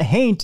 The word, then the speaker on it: haint: a haint is an that haint is like a taint with an H that's all I got